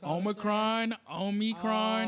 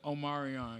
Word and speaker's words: Omicron: No, it's called well, look, I don't even want to get the pronunciation wrong, but Omicron, Oh. and so some black people just said Omarion because it looks similar.